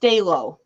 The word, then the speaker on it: Stalo: So his name is pronounced Stalo. Stalo? Oh, Stalo. Okay. I've been saying it wrong all this time.